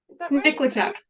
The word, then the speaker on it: Nikoleychuk: gonna do my best, Nikoleychuk. Nikoleychuk, pretty close, you just kind of have to Nit when you start.